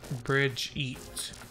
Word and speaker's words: Brigitte: It's Brigitte. Bridget. Bridget? Brigetta? What is... I don't know. Her name's Brigitte.